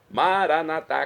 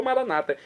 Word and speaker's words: Maranatá: Maranatá, como falamos nós católicos ou maranata, como dizem nossos irmãos das comunidades evangélicas ou protestantes, nossos irmãos separados. Não importa a pronúncia, o significado é o mesmo.